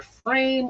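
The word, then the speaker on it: pFriem: So I'm thinking if you're American, it can be either Frame or Freim or Freim, because we don't really know how to pronounce E-I. In Germany, it'd be Freim. Straight up. Yeah. There would be no question.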